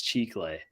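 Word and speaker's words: Chicle: do you say it I've always said chickle let's go with that we have no idea in Spanish it's chiclay chiclay for the that's that's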